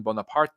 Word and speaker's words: Bonaparte: Italian he's from Corsica Napoleon Bonaparte is his is how you pronounce his last name into Italy and Napoleon